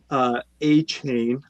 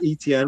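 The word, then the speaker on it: Etienne: Making sure we're pronouncing people's last names the way that they're supposed to. Not ETN, we're talking about A-Chain.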